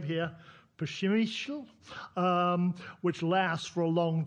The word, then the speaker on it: Przemyśl: a fortress, and I'm going to try to pronounce the Polish name here, Przemyśl, which lasts for a long time.